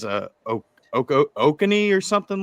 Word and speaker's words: Oconee: And the first thing that popped up was, I think it's I forgot how to pronounce it. I think it's a Oconee or something like that. It's Oconee County.